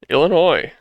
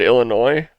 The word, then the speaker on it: Illinois: I said it, it's Illinois. All right, I would always pronounce the S when I lived there.